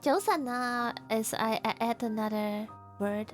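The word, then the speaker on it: 早晨: But the proper way to say good morning is Joseon. Yeah. Joseon. If you pronounce it at a J, it's also okay, I think.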